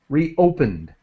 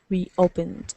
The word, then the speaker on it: reopened: silent built built uh reopened with a D sound but as quick as possible reopened reopened and the same sound